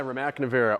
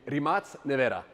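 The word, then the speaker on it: Rimac Nevera: This is my Remac Nea or as they call it in Croatia because I get a lot of Croatian hate when I pronounce it wrong, the Rematz Nea.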